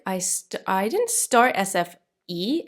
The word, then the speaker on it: SFI: to say it because the i in swedish is pronounced e so for me i would say sfi in sweden they say sfe so i'm going to say